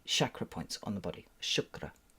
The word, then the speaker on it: chakra: points on the body shukra that's the way you're supposed to pronounce it by the way I saw a video of a an Indian lady G very cross saying a chakra isn't a thing a Shakra is a thing paying attention so these